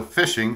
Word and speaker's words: phishing: topic that of fishing so fishing spelled with a pH for those of you